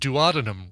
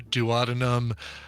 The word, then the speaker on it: duodenum: So Here's how OpenMD says it. Duodenum. oh yeah, They say duodenum. Duodenum. duodenum, which is that is what Dr. Jerry said.